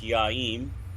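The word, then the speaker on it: yaim: we want M so to say home it's Yim SP y a i m Yim uh Furniture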